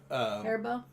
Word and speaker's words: Haribo: she eats those Haribo ones, and that is the proper pronunciation, right? Haribo, yeah.